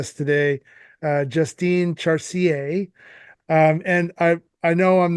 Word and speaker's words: Justine Chartier: Yeah, I can definitely say my name in French. Do you want me to say it right now? Yeah. My first name too is actually in French, so it's Justine Chartier.